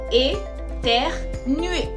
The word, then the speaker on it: éternuer: Attention à la prononciation, c'est éternuer.